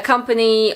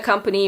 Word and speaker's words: company: A company also usually has a very specific legal structure, and that will vary from country to country. Some are huge, like Coca-Cola or Apple, but a company might just employ about 50 people.